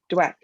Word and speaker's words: Dweck: to get the carol dwick one about um am i saying her name wrong what is it yeah dweck dweck i thought it was